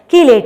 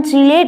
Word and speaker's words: chelate: कई लोग इसका प्रोनाउंसिएशन चीलेट भी करते हैं।